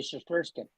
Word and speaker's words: Shesterkin: Russian, you're lucky I can say Shesterkin.